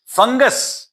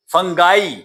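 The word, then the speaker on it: fungi: फंगस फंगाई कुछ इसको फंजाई भी पढ़ते हैं वो भी करेक्ट प्रोनंसिएशन है।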